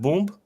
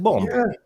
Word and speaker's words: bomb: yeah and you yes and you put B you have boomb no you have bomb what the [ __